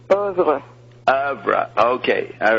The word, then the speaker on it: oeuvre: Zappa indicated ecological concern in his oeuvre as early as 1969, titling a guitar. What? No, not coming through. Oeuvre? Ovid. Love. No. Are you saying oeuvre? No, it's not oeuvre, it's oeuvre.